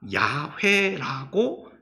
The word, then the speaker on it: 야훼: 그러다가 최근에 연구에 의해서 그 발음이 YHWH가 야훼라고 이렇게 발음이 된다라고 정정이 된 겁니다.